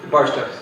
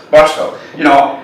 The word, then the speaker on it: Barstow: Is that how you pronounce it? Barstow. Barstow.